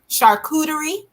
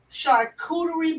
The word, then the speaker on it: charcuterie: it on a chartreutery how you say it charcuterie charcuterie board um you can put it on meatballs